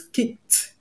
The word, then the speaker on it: kicked: be pronounced as t because the last sound of the root word kick ends in k sound, which is one of the voiceless consonants that I gave you. So pronounce the word as kicked, kicked, and not kicked. Kicked, not kicked.